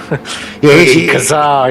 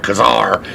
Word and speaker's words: Kazar: So in fact, I'll go one further, because we pronounce it like a pirate. Kazar.